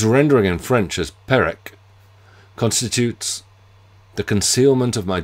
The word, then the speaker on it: Perec: Yet the fact that the Gallicization is slightly off, the rules of pronunciation would imply that the first E should bear an acute accent, to give Perec, leaves a trace, but